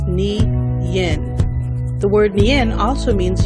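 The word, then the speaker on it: 年: the Mandarin Chinese language the closest pronunciation of nin is NI Yin the word nin also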